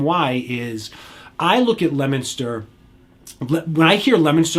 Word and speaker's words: Leominster: now we're going to swing back out to north central mass um leominster right uh or some people that aren't from the area leominster that's not how you say it we're not going to